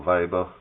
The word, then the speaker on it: Weber: There's an established theory by Max Weber or Weber, depending on whether you want to say his name in the Germanic way or not, which is Verstehen, which